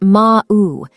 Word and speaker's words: Mau: one imposter Egyptian Mao the Egyptian word for cat is Mao pronounced ma'u which might sound like meow sometimes a rare purebred